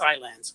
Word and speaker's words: islands: It's not my lands. It's your lands. I mean, it's islands. Anyway. John, I do believe it's Island. Islands. Islands is how you pronounce it from where I grew up.